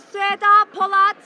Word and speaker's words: Sueda Polat: My name is Sueda Polat. That's spelled S-U-E-D-A.